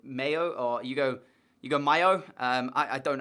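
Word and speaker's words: Mallo: So, last episode, I was saying Hugo Malo, which, as you guys have pointed out, in Spain, they don't pronounce it as Hugo Malo. Is it Mayo or Hugo Mayo?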